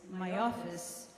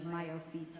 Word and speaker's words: Mayofis: So they did call this Mayofis, which is the Ashkenazic pronunciation of Mayofit, how beautiful, in Hebrew.